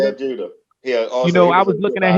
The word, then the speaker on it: Zab Judah: Zab Judah. Zab Judah.